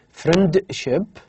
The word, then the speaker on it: friendship: The word, for example, the word friendship. Okay, friendship. The sound D is deleted. So instead of saying friendship, we just say friendship.